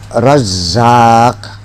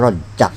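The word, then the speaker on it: رزّاق: ya di sini saja bacanya ya razza Awas ya razzaq jangan ya rq ya rq faalun jangan jangan rejakyaang jadi tap ya Razak ya razq ya Razak ya Razak jangan ya rak roak begitu tapi ya razq ya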